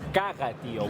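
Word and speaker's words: Caga tió: It's not Cagatío, because cara means... it's Cagatío with a G.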